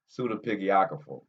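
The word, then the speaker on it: pseudepigrapha: So the Book of Giants is a Jewish pseudo pseudo pigrapho, yep, work. Nah, it's not. That's not. I pronounced it wrong. Pseudepigrapho, right?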